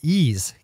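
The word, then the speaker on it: Eaze: Before we blitz out on headlines, let's quickly thank our sponsor, Ease, California's top one-stop website for legal marijuana delivery.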